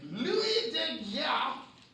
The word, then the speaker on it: Daguerre: In 1839, Louis de Geer, which is the official pronunciation, that's how you're supposed to say it.